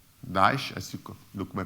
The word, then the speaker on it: Daesh: Daesh, as you look, my pronunciation is correct? Daesh, correct.